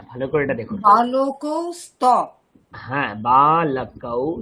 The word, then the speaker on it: स्तः: বালকৌ স্ত। হ্যাঁ, বালকৌ স্তः। যখনই আমরা দ্বিবচন করব তখন ক্রিয়াপদের কিন্তু চেঞ্জ হয়ে যাবে। বালকৌ স্তः। স্তः না, স্তः বিসর্গ আছে না, তার উচ্চারণ করতে হবে।